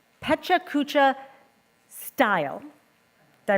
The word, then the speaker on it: Pecha Kucha: So we have a 3-minute, I will say, Pecha Kucha style. Did I pronounce it right?